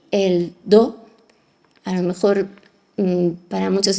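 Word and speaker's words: 道: es en chino El tao entonces este do en japonés pronunciado según la fonética japonesa es do pero en chino es Tao indica la vía el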